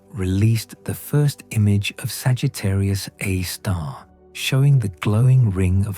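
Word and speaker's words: Sagittarius A*: The center of the Milky Way contains a supermassive black hole called Sagittarius A star, pronounced Sagittarius A star.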